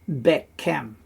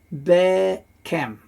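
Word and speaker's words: בָּכֶם: bekir, and then this one becomes vocal because it's the second one in a row. So it's bekem. Bekir bekem. Bekir bekem, and you can see it there. It's vocal, meaning you can hear a short E sound after it.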